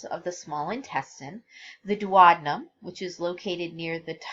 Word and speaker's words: duodenum: So like I said before, duodenum is the correct pronunciation, but I always think of in my head duodenum to help me spell it.